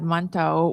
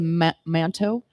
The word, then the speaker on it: mantou: And that's the manto. Mantou. Manto. Yeah. Depends on how you want to pronounce it.